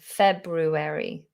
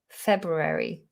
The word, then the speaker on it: February: February. February. If you just said February and didn't pronounce that R after the B, it doesn't matter. February, February, or February. It's such a subtle difference.